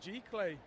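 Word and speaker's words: giclée: I can never pronounce how you say it. It's just G-clay.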